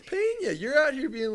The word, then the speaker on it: Peña: his name uh Carlos Pana Carlos Peña yeah okay come on man I say Carlos Pana no it's paa you're out here being